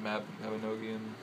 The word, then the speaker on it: Mabinogion: Mabinogion? Some people say Mabinogion. I say Mabinogion.